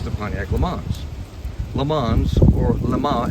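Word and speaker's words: Le Mans: Pontiac Lans LeMans or Lama as it would be pronounced in French is a city in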